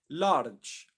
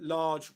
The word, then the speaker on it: large: I shouldn't pronounce the R sound. So I could come back to it and say, it is now believed that large white holes, and say it correctly.